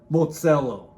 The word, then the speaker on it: motshelo: One word, Mozillo. Now, Mozillo is a word from your native tongue, and it's spelled Motshelo.